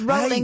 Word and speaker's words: Rowling: It's Rolling as in Rolling Stone.